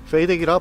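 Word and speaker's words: FADEC: 부터 제 방식입니다 참고로 fad 씨는 페이드 기라 발음합니다 j 79 ng 가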